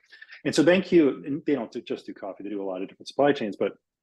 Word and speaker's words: BanQu: I'll give you one example of a company I really, really think they're doing some really interesting stuff, and it's called BanQ, which is spelled BANQU, BanQ.